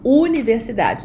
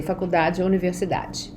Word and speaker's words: Universidad: to the pronunciation of Universidad the U is always pronounced as Ooh never you okay uh and remember